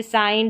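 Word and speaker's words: sign: Next देखिए, जब किसी इंग्लिश स्पेलिंग में जी के बाद में एन आए तब जी साइलेंट रहता है। ये साइलेंट रूल वाली जो क्लास थी उसमें भी मैंने बताया था, जैसे साइन, डिज़ाइन और रिज़ाइन, एन से पहले जी,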